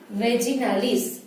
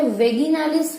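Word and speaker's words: vaginalis: ठीक है, और यू कैन से वेगिनालिस भी, कई सारे लोग हैं वो वेगिनालिस प्रोनाउंस करते हैं और कई सारे वेजिनालिस बोलते हैं। आपको जो बोलना है आप बोल सकते हो।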